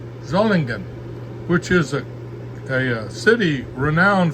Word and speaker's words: Solingen: The Solingen factory, it's spelled S-O-L-I-G-E-N, but it's pronounced Z, Solingen, hard G, Solingen, which is a city renowned for knives and cutlery in Germany for centuries.